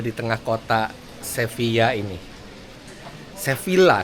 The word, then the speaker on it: Sevilla: Sevilla, tapi orang sini bacanya Sevilla.